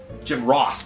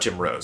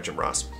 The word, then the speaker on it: Jim Ross: Jim Ross, not Jim Rose. Sorry, Jim Ross.